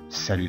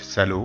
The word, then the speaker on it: salut: Romain, salut tout le monde. ازيكم يا جماعة. salut, ما نقولش سالو غلط.